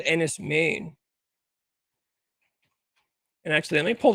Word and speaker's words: Men: So, it looks like N is men, but it's pronounced Maine.